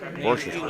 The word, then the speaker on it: Worcester: It's like that sauce you put on steak. Yeah. I don't know how to say it. Except you just say it real fast like there's Well, like there's actually only three letters in the word Worcester. Yeah. Worcester. just get by with it. Couple syllables and you're done.